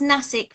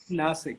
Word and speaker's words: Nasik: You're based in, it's pronounced Nasik, right? Nasik, yes.